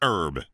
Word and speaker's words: herb: It's herb. It's French. Drop the H, clowns."